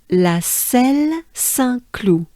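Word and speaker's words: La Celle-Saint-Cloud: we go back and as a whole it sounds like this la cell san clue let's do it together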